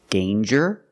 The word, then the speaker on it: danger: Example, danger and anger. So with danger, we hear the J sound. Danger. There's no nasal sound. There's no it's a regular N.